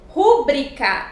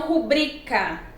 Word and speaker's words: rubrica: Rúbrica e não rubrica.